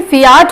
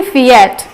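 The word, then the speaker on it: Fiat: सो इसका pronunciation फियाट होता है, ना कि फिएट।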